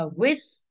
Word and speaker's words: with: À, chúng ta sẽ đọc là with. Tối hôm qua là có hình như là có mấy anh lớp A2 cũng nhà làm with thì nó sẽ âm thờ.